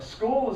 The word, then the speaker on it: school: was it school a school is actually school is spelled SCH but the sound is SK so you really only